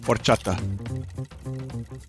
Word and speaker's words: horchata: delicious both but different the H is silent horchata they um both are